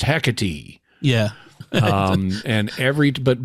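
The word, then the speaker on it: Hecate: personal thing I really hate the way they pronounce the word the name of the other ship heck it right because this is a Greek word this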